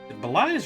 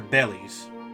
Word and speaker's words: belies: A well-known figure around the prison, his exceedingly wary demeanor, but belies or bellies? Belies. Belies. I thought it was belies.